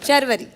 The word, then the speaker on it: शर्वरी: वैसे आप कैसे प्रोनाउंस करते हैं अपने नाम को? शर्वरी। शर्वरी। बिल्कुल जी, बिल्कुल फरवरी जैसे।